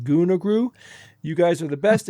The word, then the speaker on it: ghungroo: It's called it's spelled g h u n g h r o o and it's pronounced ghungroo.